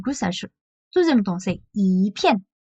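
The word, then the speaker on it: 一片: coup, en il va changer sa manière de prononcer et du coup, ça deuxième ton, c'est 一片.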